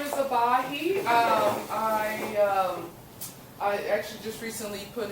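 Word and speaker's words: Ebahi: Hi, my name is Abahi. I actually just recently put in my application, so hopefully I'll be a member. My name is spelled eBay on the screen, but it's actually Abahi, E-B-A-H-I.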